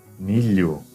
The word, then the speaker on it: milho: Ele será pronunciado como li. Vocês vão substituir mentalmente por li.